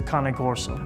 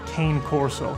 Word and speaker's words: Cane Corso: the Molosser is the Cane Corso. I actually own a female myself from Ravalli bloodlines. A lot of people in America pronounce it Cane Corso, but it's Cane. Cane means dog in Italian.